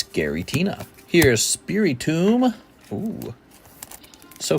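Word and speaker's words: Giratina: they bring back the yellow borders it's definitely pronounced Gary Tina it's Gary Tina here's spey tomb oo so fun opening these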